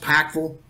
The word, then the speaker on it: Pikeville: born and raised in Pikeville Kentucky if you're from that area uh it would be pronounced packful but from a very